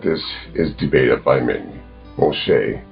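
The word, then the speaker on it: משה: Moshe, as his name is pronounced in Hebrew, wrote the Torah according to the Jewish tradition, which is the first 5 books of the Bible.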